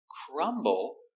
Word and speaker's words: crumble: We pronounce the B. Crumbb. Crumble.